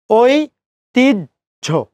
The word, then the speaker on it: ঐতিহ্য: এখন এই জায়গাটাতে আপনি হর্ষ দিতেও পারেন, ওই ধাক্কা খাচ্ছেন, দিতেও পারেন, নাও দিতে পারেন। যদি দেন তাহলে জামিল স্যারের বাংলা অভিধানকে আপনি ফলো করলেন, আর যদি না দেন তাহলে স্যার নরেন বিশ্বাস স্যারের উচ্চারণ অভিধানকে ফলো করলেন। বোথ আর কারেক্ট।